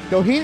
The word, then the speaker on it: Doheny: He'll be defending his title against TJ Doheny.